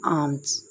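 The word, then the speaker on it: alms: खैरात को इंग्लिश में कहते हैं आर्म्स। आर्म्स। इसमें एल को खामोश रखना है, एल इसमें साइलेंट हो जाता है।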